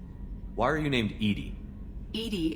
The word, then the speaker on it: EDI: are you named Edie Edie is the phonetic pronunciation of EDI that is an acronym for enhanced defense intelligence are you getting along with Joker mr.